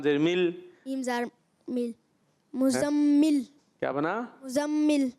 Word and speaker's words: मुज़म्मिल: मुज़्ज़म, हाँ, और फिर आगे मीम जे, मीम लाम जेर मिल, मीम ज़ार मिल, मुज़म्मिल, क्या बना? मुज़म्मिल, हाँ, तो ये मुजम्मिल है।